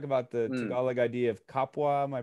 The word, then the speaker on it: kapwa: to end with, you talk about the Tagalog idea of kapwa. Am I pronouncing that correctly?